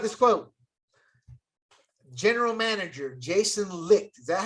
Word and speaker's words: Licht: General Manager Jason Licht.